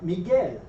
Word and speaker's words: Miguel: Uh, and then also with the G and the UI, it's going to be a hard G sound. The U is not there to do anything other than to make that G hard before the I that follows it.